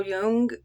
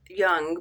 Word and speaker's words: Jung: assumption principles with Carl Jung or Jung. I was taught that it's pronounced young, but I hear a lot of people say Jung, so I kind of